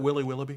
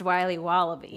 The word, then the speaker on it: Wiley Wallaby: Can I have a piece of that Willy Willoughby? Wally Wibbly. Wiley's Wallabies. Wallaby Wallies? Wilby Wobbaby? It's pronounced Wiley Wallaby.